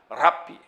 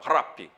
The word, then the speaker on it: 랍비: 정확한 발음은 랍비. 히읗 발음과 알 발음을 섞어서 발음합니다. 랍비.